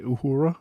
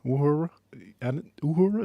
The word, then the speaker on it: Uhura: Maybe I'm saying it wrong. I said uhura. Uhura is what I say. Is it uhura? Uhura. I say uhura. Uhura. I've always heard. Yeah, I never heard the liquid U.